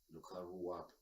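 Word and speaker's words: Lakurawa: so far good morning luar is actually pronouncing as larua okay luu luara yes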